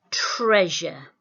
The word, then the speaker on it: treasure: Today we're going to start looking at a sound which makes a j sound but is spelt with an S. Listen really carefully to this word, treasure, treasure.